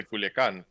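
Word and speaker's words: Culiacán: I'm not gonna say Hermosillo. I'm gonna say Hermosillo. Yeah. Or Culiacan. I'm gonna say Culiacan.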